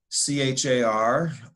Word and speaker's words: char: value so now you've got fractions or decimals c h a r usually pronounced char which is a single character that's